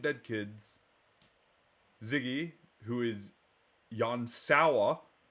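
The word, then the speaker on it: Jan Sauer: kids Ziggy who is Yan sa who I kept mispronouncing as Yan soya figured that out when I was watching The Saga 2 VOD whoops so Yan sa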